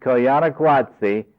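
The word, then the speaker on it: Koyaanisqatsi: is a documentary about the Hopi and it's pronounced coana guatsi I'll find out the spelling and tell Jim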